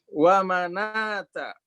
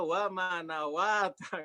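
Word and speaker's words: وَمَنَاةَ: Ini kalau orang awam bacanya wa manawata gitu ya. Enggak, ini wa manata.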